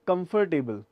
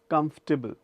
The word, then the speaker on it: comfortable: साथ ही मैं आपको बता दूं, अगला वर्ड कई बार हम बोलते हैं कंफर्टेबल. कंफर्टेबल इज the right word, कंफर्टेबल.